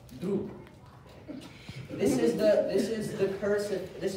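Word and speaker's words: друг: It's pronounced droop.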